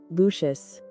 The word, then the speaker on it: Lucius: The second name is pronounced Lucius or Lucius.